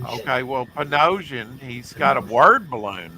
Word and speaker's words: Panosian: a full emboss cover so I used to pronounce his name Pino but it's panosian sorry P okay well ponosan he's got a word balloon there for Magneto